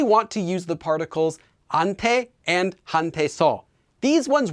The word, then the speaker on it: 한테: might have noticed that instead of saying hunte and hunte soul i'm saying more like ante and ante so let's talk